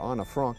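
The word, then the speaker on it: Anne Frank: And there's Anne, who's with her, or Anna Frank, to say her name correctly.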